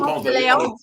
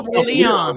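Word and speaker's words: Ponce de León: I don't know Ponce de Leon. I know Ponce de Leon. It's Ponce de Leon. Ponce de Leon. If you say it wrong, they know you ain't from there.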